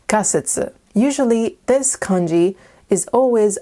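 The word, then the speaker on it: 仮説: but this word which means hypothesis is not pronounced hansetsu it's pronounced kasitsu usually this kanji is always either pronounced ka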